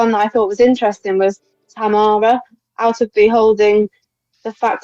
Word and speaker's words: Tamara: They're going to pronounce it Tamara when you you hear the commentary. George, don't don't get confused. It's the the same Philly. I I would call her tomorrow as well, but they have these peculiarities of pronunciation over there.